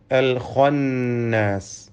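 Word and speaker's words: الخناس: അൽ ഖന്നാസ്, ഇതിലെ ഖാഇന് തഫ്ഖീം നൽകി പെരുപ്പിച്ച് സ്വരഭാരത്തോടെ ഉച്ചരിക്കണം. ഇതല്ലാത്ത മറ്റക്ഷരങ്ങൾക്കൊന്നും തഫ്ഖീം വരാതെ സൂക്ഷിക്കേണ്ടതുമാണ്.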